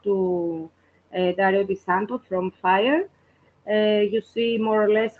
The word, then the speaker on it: FIRE: I'm Dario Di Santo, Managing Director of FIRE. We pronounce it in the Italian way, not FIRE.